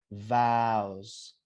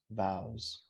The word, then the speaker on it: vows: Vows, pronounce this with me, guys. This is vibrated. Vows. Vows.